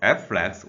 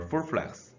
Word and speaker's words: FFlex: We can pronounce this as FFlex or FFlex.